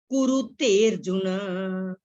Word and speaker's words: कुरुतेर्जुन: आगे है भस्मसात, आधे त पे कॉमा, कुरुतेर्जुन। ते के साथ ही, ए की मात्रा के साथ ही र की आवाज आनी चाहिए। एस साइलेंट है, वर्ड है अर्जुन, लेकिन हम इसको बोलेंगे कुरुतेर्जुन।